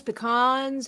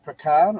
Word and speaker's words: pecan: With the marshmallows, pecans, you got a preference? marshmallows. Now, is it pronounced pecan or pecan? Depends where you come from.